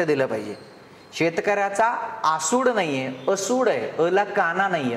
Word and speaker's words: असूड: यांची दोन पुस्तक आहेत शेतकऱ्याचा असूड असूड आहे आसूड नाही लगेच आजपासून आपण काना मात्रा वेलांटी कडे पण लक्ष दिलं पाहिजे शेतकऱ्याचा आसूड नाहीये असूड आहे अला काना नाहीय